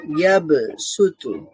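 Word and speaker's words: يبسط: তারপরে আছে কি, ইয়াব সুতু, ইয়াব সুতু। এখানে সদ দিয়ে লেখা আছে, তবে সিন দিয়ে উচ্চারণ করতে হবে, ইয়াব সুতু, ইয়াব সুতু।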